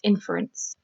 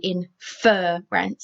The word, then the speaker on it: inference: simply add the suffix inference inference i don't say infer rent if i did it would be double r next one confer and